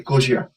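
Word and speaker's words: Gojira: wife on Godzilla or if I want to pronounce it correctly, Gojia.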